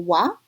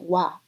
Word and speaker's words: は: Two such examples are the particle wa, written with a ha, but as a particle we pronounce it wa, and also the particle o or wo.